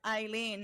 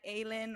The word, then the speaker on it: Aylin: way, Aylin is pronounced Eileen, not Aylin or any I other know it's stuff that you guys Eileen like come in up.